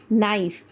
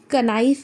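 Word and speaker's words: knife: यानी के को नहीं पढ़ेंगे हम। Will only pronounces S नाइफ। कनाइफ नहीं कहेंगे।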